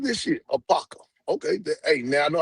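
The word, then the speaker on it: Apopka: I like, man, A-P-O-K, what the hell you pronounce this shit? Apaka.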